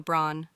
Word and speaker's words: braun: Pronounce caro, braun, yani brown. Thorda gaharai se bolo, brown, brown.